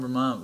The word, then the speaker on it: Vermont: I didn't we even know We don't pronounce this. Our T's. We say it like a D.